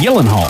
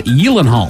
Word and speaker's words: Gyllenhaal: Gyllenhaal and Gyllenhaal it's Gillen Hall Illinois I have a list Mr Hill of the uh the celebrity names you're probably mispronouncing and I learned today that it is Yellen Hall Yellen Hall why doesn't